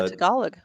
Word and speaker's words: Tagalog: Tagalog. The That's how you pronounce it.